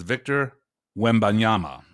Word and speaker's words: Victor Wembanyama: This guy, I'm sure I'll mispronounce his name, but his name is Victor Wembanyama.